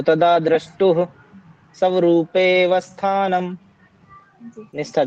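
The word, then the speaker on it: स्वरूपेऽवस्थानम्: हाँ, स्वरूपेवस्थानम्। स्वरूपे पे के बाद सीधा व पे आ गया आप। ठीक है, ए साइलेंट हो जाएगा फिर यहाँ पे।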